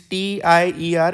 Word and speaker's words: tier: okay friends see this t i e r it is pronounced as a tier not Tire okay so this is